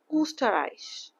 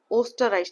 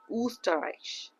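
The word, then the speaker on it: Österreich: প্যা এল অ্যাপেল ওকে উটার উচ্চারণ হচ্ছে উ স্টার আইস উ স্টার আইস সো এটা মানে হচ্ছে অস্ট্রিয়া। ওকে সো ওস্টারইস না কিন্তু উস্টারইস ওকে নট ফর নট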